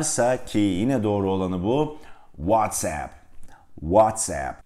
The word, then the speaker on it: WhatsApp: doğru olanı bu WhatsApp WhatsApp Çünkü oradaki ap'den oluşan hece aplikasyon kelimesi yani İngilizce application kelimesinin kısaltılmış hali Dolayısıyla vase dolayısıyla bir